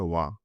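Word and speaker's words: は: ভাষায় সবসময় সাবজেক্টের পরে হা পার্টিকেল বসে যার উচ্চারণ হবে ওয়া মানে এটার উচ্চারণ ওয়া হবে।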